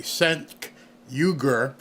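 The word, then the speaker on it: Cenk Uygur: who this guy is let me pronounce his name correctly sen yuger he's with The Young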